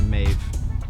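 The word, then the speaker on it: Meadhbh: tag and my personal favorite the Irish name Maeve which is spelled m-e-a-d-h-b-h and the word is Maeve so Irish names are actually derived from our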